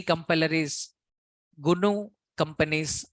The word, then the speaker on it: GNU: is the company name pronounce it as the gunu gnu pronounce this as gunu gunu companies C compiler like this in the